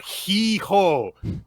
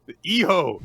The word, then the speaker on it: hijo: Hijo. It's not he-ho. Hijo. H's are silent in Spanish.